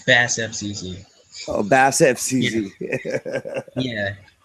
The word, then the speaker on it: BASSFZz: How do I say it? Bass face? No, it's BASSFZz.